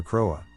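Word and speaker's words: Crowe: See, it was there that the enigmatic Dr. Crowa, pronounced Crow, ran his orphanage in the 1950s.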